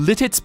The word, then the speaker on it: Lititz: in the world called Letitz? Or Letitz. How is it pronounced? Where is it? I gotta look this up now. A town called Lititz. Oh, Lititz, Pennsylvania.